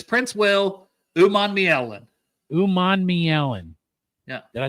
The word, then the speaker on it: Princewell Umanmielen: It's Princewell Umanmielen.